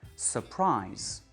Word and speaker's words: surprise: En anglais, on dit surprise. Surprise. La deuxième syllabe est prononcée plus aigu. Et ce qui est aigu, c'est vraiment la voyelle.